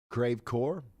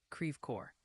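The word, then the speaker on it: Creve Coeur: out put down a a tornado right now crave core or oh yeah I could ask old old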